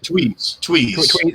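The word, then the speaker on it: Tweed: And Stone, fun fact: David Lynch reunited Lauren is it Tweez? How do you say it? Tweez. It's Lauren Tweez yeah.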